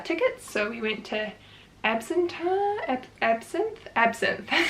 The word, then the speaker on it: Absinthe: So we went to Absinthe, that's how you say it, which was a really cool like burlesque comedy show thing.